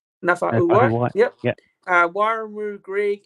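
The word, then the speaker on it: Naufahu: Then you got the reserves of Nafa'u White. I think I pronounced that right. Correct me if I'm wrong there. No, Fahu. Nafa'u White.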